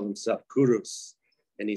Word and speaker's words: Cyrus: and the Greek name for him is actually kairis and then the Miss English we pronounce mispronounce it as Cyrus but what did he call himself he called himself kurus and he said I am in Aryan the